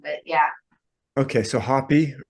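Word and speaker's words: Hapy: How would you say that? I'd say happy. So yeah, we Happy, sort of right. said the A a little long, but yeah. Okay, so happy, right.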